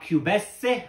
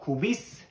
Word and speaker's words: Cubessé: This was our Cubessé or Cubisse, depending on how you want to pronounce it, created specifically for episode 47 of our Cocktail Collective Live.